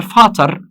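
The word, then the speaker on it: Vater: خلي بالك من فرق النطق. دير فاتر دي فيتر، دير فاتر دي فيتر، في فاتر فيتر.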